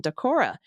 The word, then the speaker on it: Decorah: the first 18 years of my life in, Decorah. I just want to let Dana know you got the pronunciation perfectly correct the first time you said it.